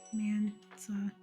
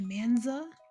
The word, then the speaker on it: Mansa: It's like simple Mansa, you know? Mansa. Mansa. A lot of people in the server like to say Manza with a Z.